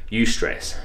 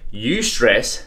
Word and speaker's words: eustress: one it's called eustress I don't know if I'm saying it right but it's spelled EU s TR e SS so you stress so it's like a